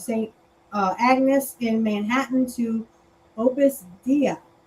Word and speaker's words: Opus Dei: Agnes in Manhattan to Opus Dei. Did I say it right? Dei. Opus Dei. I'm sorry. Like day, yeah, okay, like the priest. day.